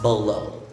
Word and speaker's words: bolo: if it's a spanish origin okay and it's pronounced bolo okay next we have amigo amigo in our